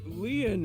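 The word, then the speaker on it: Lien: say it's your density my name leon is spelled l-i-e-n go on in french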